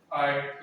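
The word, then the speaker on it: height: ठीक है, T silent नहीं रहता, T तो बोलते हैं, जैसे कि हाइट होता है, हाइट में भी GH साइलेंट रहता है, T तो बोलते हैं।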